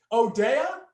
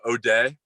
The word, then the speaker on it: O'Day: What is it? Odea? Is that how you say it? It's called O'Day.